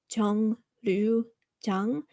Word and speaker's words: 정류장: And then it's written 정류장, but due to pronunciation rules, it actually sounds like a nian instead of a riol.